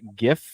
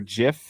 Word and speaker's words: Jif: a little known spread called uh gif or jif however you want to pronounce it is fine okay uh this butter